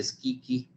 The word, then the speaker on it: Schicchi: En esta ópera que se llama Gianni Schicchi, se escribe con CHI, ¿no? Y se pronuncia Schicchi.